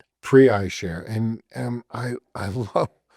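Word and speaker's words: PreiShare: Pre eyeshare easy to find prey eyeshare and um I I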